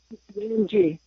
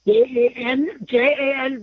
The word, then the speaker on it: Jangee: Jangee. Jan. The J is pronounced a Y.